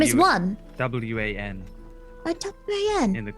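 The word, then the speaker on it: Wan: Hello, I'm Shopkeep One. Shopkeep One? That's My a name is very One. interesting name. Your name is One.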